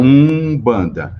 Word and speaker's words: Umbanda: m então um banda Só que a pronúncia quando aá a palavra ela escrita com m ou com n eu vou pronunciar com u sempre então é um banda então a pronúncia é essa E aí aqui em